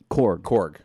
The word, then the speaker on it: Korg: And he also plays, is it Kurg? Korg, which is sort of like the Thing in Fantastic Four.